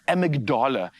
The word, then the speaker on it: amygdala: What about the amygdala? I hope I'm pronouncing that correctly.